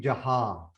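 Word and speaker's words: ਜਹਾ: That would be jaha. But jajja and haha, haha is mukta. Haha mukta is pronounced as ha. Jaha. Jaha. Jaha. A lot of people make that mistake when they read it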